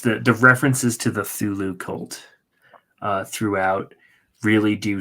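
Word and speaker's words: Cthulhu: well I guess I they call it thulu in in the audio book that I listen to not this the see is silent yeah and you know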